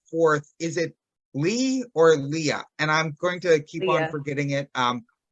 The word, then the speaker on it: Leah: It is Leah. So you just think of the biblical Rachel and Leah, and it is the traditional spelling.